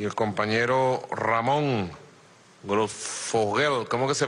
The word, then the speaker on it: Grosfoguel: Estuve viendo el programa que hicieron Juan José Bautista y el compañero Ramón Grossfogel, ¿cómo que se pronuncia tu apellido bien? Grossfogel.